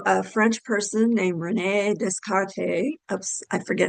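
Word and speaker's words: Descartes: So, a French person named Renee Descarte. Oops. I forget how to pronounce it. I think the S is silent.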